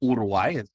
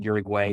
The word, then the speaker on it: Uruguay: mother is from Uruguay about Uruguay I'm told to pronounce it but Uruguay is how many Americans would read it um and I met